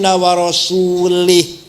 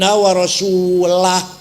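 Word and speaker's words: وَرَسُولُهُ: Salah. Bacanya harus wa annallaha bari'um minal musyrikin wa rasulah. Allah tidak melindungi orang musyrik dan Rasulullah pun tidak melindungi orang musyrik. Baca wa rasulah.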